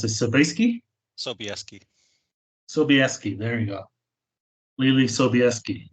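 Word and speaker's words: Sobieski: John ree Davies and ly how do you pronounce this seski seski sobeski there you go ly seski so um of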